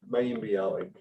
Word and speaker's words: Mayim Bialik: I can never pronounce her name. Mayim Bialik.